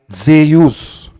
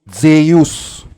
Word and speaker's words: Zeus: so ang tamang basa sa pangalang Zeus ay Zeus Zeus samantalang ang basa naman sa pangalang yesus ay